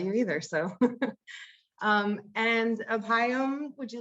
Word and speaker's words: Abhayam: know that about you either so um and apayam would you like to go next and please tell me if i'm pronouncing your name correctly i had thought i'd